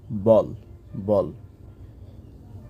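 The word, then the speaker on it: ball: শব্দের ক্ষেত্রে হতে পারে এ এর পরে ডাবল এল থাকলেই এ এর উচ্চারণটা হয়ে যায় অ এর মতো তাহলে বি এ ডাবল এল বল তারপরে যেমন আছে বি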